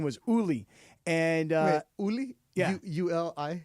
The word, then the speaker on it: Uli: This guy's name was Uli. And Wait, Uli? Yeah. U-L-I? Yeah. How do I? No, okay. Did I say it like ooh, like OOLI? You like ooh-lee.